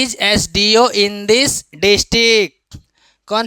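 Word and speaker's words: SDO: ही ही इज एन एसडीओ in this district वह यहां का क्या है एसडीओ है एसडीओ का उच्चारण एस से शुरू होता है जो वोवेल साउंड है।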